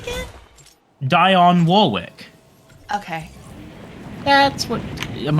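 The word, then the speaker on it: Dionne: I got to say I do much prefer Dion Warwick's version I'm very glad that became the more popular one no offense to the original artist Dion Warwick she's the woman who sings that's what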